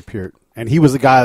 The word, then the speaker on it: Peart: Yeah, Peart. Because of sitting on this side of the thing. We had another drummer on, and he's like, no, you got to say Peart.